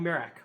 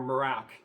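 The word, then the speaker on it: Merak: Uh but it's a Maserati Merac or Morac, depending on how you choose to pronounce it.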